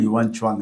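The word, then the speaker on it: Xuanzang: ಇರಬಹುದು ಏಳನೇ ಶತಮಾನದಲ್ಲಿ ಬಂದ ಯುವಾನ್ ಚವಾಂಗ್ ಯುನ್ಸಾಂಗ್ ಅಂತ ಹೇಳ್ತಾರೆ ಸರಿಯಾದ ಒಂದು ಉಚ್ಚಾರಣೆ ಯುವಾನ್ ಚವಾಂಗ್ ಅಂತ ಅವರೆಲ್ಲರೂ ಕೂಡ ಇಲ್ಲಿನ ಜ್ಞಾನ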